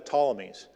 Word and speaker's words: Ptolemies: was ruled by the Ptolemies. It's spelled with a P. The P is silent.